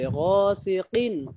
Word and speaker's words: غاسق: আরো মেহনত করতে হবে গাসিকিন কিন কফ এটা কাফ না কফ গাসিকিন ইযা ওয়াকাব আমিন শাররি